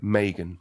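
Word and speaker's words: Meaghan: it Megan or Megan Megan like like Reagan I say it wrong all the time my kids say it wrong all time Megan like Reagan Megan mea G ha and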